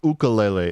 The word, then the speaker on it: ukulele: Or ukulele, if you're going to be technically correct in the pronunciation.